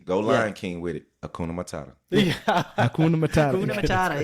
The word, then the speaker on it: Hakuna Matata: Hakuna Matata.